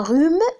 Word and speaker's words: rhume: Un rhume, on ne prononce pas le H.